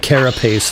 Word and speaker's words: carapace: See, I said carapace that way because it rhymes with face.